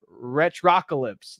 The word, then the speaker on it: Retrocalypse: He says it rhymes with apocalypse. Retrocalypse.